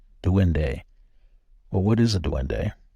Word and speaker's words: duende: Google it for yourself it's spelled d-u-e-n-d-e to win day well what is a